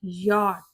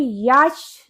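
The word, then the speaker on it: yacht: जिसकी correct pronunciation होती है यट। यट। इसे हम याच नहीं पढ़ेंगे।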